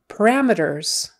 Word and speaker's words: parameters: Syllable stress is on the second one. Parameters. And so meters. Not meters. We wouldn't say parameters. It's one of those where we just kind of go meters, meters, parameters, parameters, itters or utters, parameters, parameters, parameters. It's a non-stress syllable, so parameters, parameters, parameters, parameters.